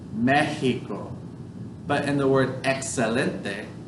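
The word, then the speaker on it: México: The X makes like an H sound. Mexico.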